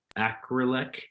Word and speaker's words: Acrelec: So they partnered with a company called Acrylic, I think is how you pronounce it, ACRELEC. They are a QSR technology kiosk type company, self-service kiosks.